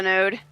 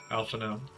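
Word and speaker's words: Alphinaud: Okay, Alpha Node. Alpha now. You said Node. It's because he has a D in his name for no reason.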